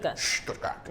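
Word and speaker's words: Stuttgart: When did you know you'd be going to Stoutgat? What's the correct pronunciation? Stoodkat.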